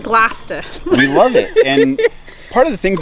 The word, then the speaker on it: Gloucester: Pronounced Gloucester. Gloucester. Yes. Like lobster, but Gloucester.